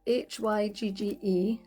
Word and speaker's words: hygge: So it's spelled Hygge, but it's pronounced Hygge or Hygge, and it's about the